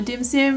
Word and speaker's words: dim sim: an explainer on a dim sim because a dim sim not to be confused with dim sum i'm not mispronouncing it a dim sim is